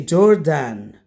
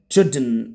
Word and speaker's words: Jordan: This is, some students say Jordan. That's wrong. If you pronounce this way, it's wrong. Jordan. When you found the an at the end, it's n. So the pronounce is Jordan, not Jordan. That's wrong. Jordan. Without saying an or an. That's wrong.